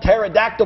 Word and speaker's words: pterodactyl: It's spelled pterodactyl, but the P is silent.